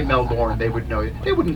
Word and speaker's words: Melbourne: it just depends where you're from but yeah Melbourne is is is the pronunciation so if you said Melbourne uh they